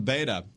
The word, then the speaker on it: Beto: I call him Beta. I know it's Beto now, but I can't think